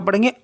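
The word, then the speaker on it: pain: पा हो गया तो पी ए आई एन पा एन टी आर ए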